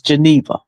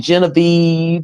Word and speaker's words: Geneva: My name is Geneva. I don't know how people be getting Genevieve and even Jennifer and How you How you pronounce that?